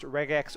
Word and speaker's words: regex: it stands for and i pronounce the g like a g and not like a j but i also say